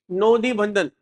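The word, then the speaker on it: নদী বন্ধন: अब एज you know guys, हमारे जो प्रोनाउंसिएशन अगर आप देखोगे तो हमारे बंगाली भाई बहन जो है वो प्रोनाउंसिएशन उनकी थोड़ी इस तरह होती है, नोदी। जैसे हम रसगुल्ला बोलते हैं वो रोसोगुल्ला, तो नोदी, नोदी बंधन, नोदी बंधन, उनका प्रोनाउंसिएशन इस तरीके से निकलता है।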